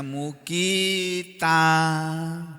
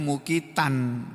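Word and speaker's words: مقيتا: Bacanya mukita, tulisannya mukitan, tapi kalau dibaca mukita.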